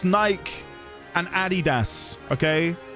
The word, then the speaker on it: Adidas: It's Nike and Adidas, okay? Not Adidas. It's Adidas and Nike.